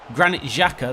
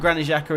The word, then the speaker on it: Granit Xhaka: I don't think Granit Xhaka, there you go, we'll say his name properly. I don't think Granit Xhaka is playing today.